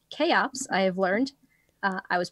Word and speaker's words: CHEOPS: Pronounced CHEOPS, I have learned.